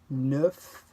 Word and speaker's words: neuf: A letter C, R, F, or L at the end of the word usually is pronounced.